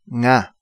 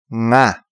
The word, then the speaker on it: nga: Nga. This is probably difficult for you to pronounce, but say it with me. Nga.